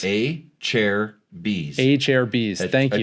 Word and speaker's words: Acerbis: Acerbis. A chair B's. A chair B's. Thank you. Acerbis.